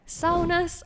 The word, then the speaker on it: sauna: taking a look at Saunas of Skyrim, the bathing mare. As you may know, sauna is the only Finnish word that has spread to other countries, and yes, that is how it's actually pronounced.